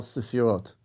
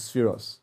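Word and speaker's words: ספירות: These filters, or the filtering process, takes place in part through what we call sefirot in Jewish teachings, or the Ashkenazi pronunciation is spheros.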